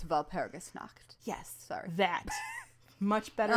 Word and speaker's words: Walpurgisnacht: Yeah, I put the emphasis on the wrong syllable. It's Walpurgisnacht.